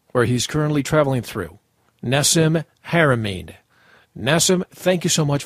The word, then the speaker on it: Nassim Haramein: Nassim, first of all, please pronounce your name so that throughout the interview I'm pronouncing it correctly. My name is Nassim Haramein. Nassim Haramein.